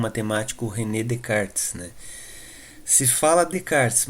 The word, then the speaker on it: Descartes: foi então iniciada e com o matemático rené de cartes né se fala aplicar se mas o nome dele se escreve com s de descartes né então ainda